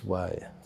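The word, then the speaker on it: wai: say hello yeah and and that then the pronunciation of that word it's bill w-a-i right yes yes why why why buddhism has had a huge effect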